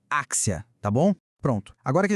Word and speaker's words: Axia: O nome da empresa Axia com X se pronuncia Axia.